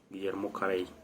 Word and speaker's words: Guillermo Carey: es guillermo harvey pues para no irnos a equivocar vamos a dar lo como se pronuncia en el español guillermo carey ese hombre era un